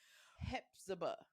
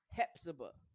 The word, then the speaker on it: Hephzibah: Hepzibah. Hepzibah. I don't know. Hepzibah. Spell it so people could get it right.